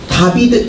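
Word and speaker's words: דוד: 다윗이 이름이 히브리어로 음 다윗 우리가 말하는 다윗이 다비드 앤 이이야 그럼 왼쪽부터 다비드 이렇게 된게 아니라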